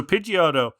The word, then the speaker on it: Pidgeot: so Pidgeotto, when it got Pidgeot, thank you.